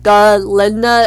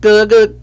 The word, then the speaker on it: Glinda: Um Glenda say that her name was Ginda at first and the go was like glinda like that.